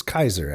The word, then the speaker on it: Caesar: of plays into the Caesar yeah and it's Kaiser actually Kaiser that's the pronunciation they also compare uh